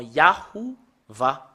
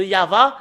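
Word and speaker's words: יהוה: ne sont pas conscients l'ont écrit en yahouva c'est un nom d'un faux dieu voilà le nom yahuva vous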